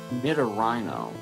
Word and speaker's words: Nidorino: Nidorino. Nidorino is how I've always heard it pronounced.